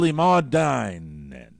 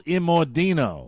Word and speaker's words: Immordino: Happy belated birthday to Michael Immordine. That's not how you say it. Try it again. Happy belated birthday to Michael Immortal. No. Immortal. Happy belated birthday to Michael Immordino.